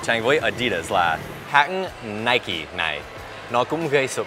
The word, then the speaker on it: Nike: và người Mỹ vì người Anh đọc là Nike. Và mình xin được nói là trong sự bất đồng này thì người Mỹ đúng. Bởi vì Nike là một hãng Mỹ, tên của nó xuất phát từ một vị thần Hy Lạp. Tên đó cũng đọc là Nike. Cho nên mỗi lần đang nghe người Anh nói Nike thì cứ thấy sai.